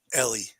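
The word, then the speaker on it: Elly: First of all, everybody pronounces it Ellie. Ellie did it.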